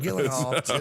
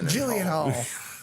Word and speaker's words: Gyllenhaal: He said, I said it that way because that's how it's spelled. How do you say it? I can't even say it wrong. Gyllenhaal. Gyllenhaal.